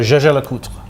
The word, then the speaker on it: Jaeger-LeCoultre: Okay, so jaeger-lecoultre. Jaeger-lecoultre. The other thing you often hear, of course, is Jaeger. Yeah, which it is not. It's how you would pronounce it in German, basically.